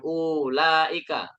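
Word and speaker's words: أولئك: Jadi bacanya bukan ulaika, salah. Bacanya kita harus pendek.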